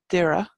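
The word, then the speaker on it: Doire: original name of us and that comes from Dara which is Oakwood over in Antrim we have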